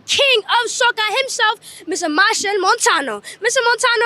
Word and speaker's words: Machel Montano: of SOA himself Mr Mar Montano Mr Montano how you doing today I'm so fine after you just pronounce my name perfectly because they always mispronounce it Marshall Montana you said